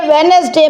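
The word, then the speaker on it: Wednesday: इस टेक्स्ट में वेडनेसडे में D साइलेंट लेटर है।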